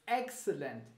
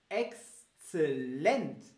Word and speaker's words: exzellent: Aber die Betonung in Deutschland ist ein bisschen anders. Man betont nicht das X, also excellent, das sagt man nicht. Man sagt exzellent, exzellent, exzellent, genau. Und also man betont die Endung sozusagen, exzellent, exzellent.